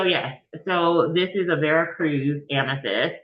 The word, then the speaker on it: Veracruz: And so let me make sure that I pronounce it correctly because I feel like such a poser every time I say it correctly. In the appropriate um, Latin accent. So it's Veracruz.